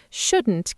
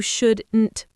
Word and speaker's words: shouldn't: It has a hard T at the end. Actually, in fast, natural American and British speech, native speakers often swallow or completely drop that final T. Really? They drop the T? Yes, instead of saying you shouldn't go with a sharp T, we often stop the air in our throat. It's called a glottal stop.